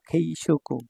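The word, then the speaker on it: 軽食: এটা তাবে মাছের কাঞ্জি তাবে মাছের হচ্ছে চাইনিজ উচ্চারণ হচ্ছে শুকু ঠিক আছে তো দুটো মিলে হয়ে গেল খেই শুকু খেই শুকু খেই শুকু মানে হচ্ছে নাস্তা যেটা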